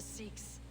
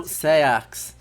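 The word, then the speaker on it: seax: The gallows, the quill, the Sikhs, free men. No, Sayax. Two now. Come on, pronunciation. Bishop Aelfred is dead. He was the Sikhs, so far as... No, that's not how you pronounce that word.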